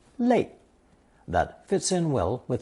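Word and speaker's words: 泪: In this example, I've introduced a new character meaning tears pronounced fourth tone le that fits in well with the idea of cho meaning to beg or plead.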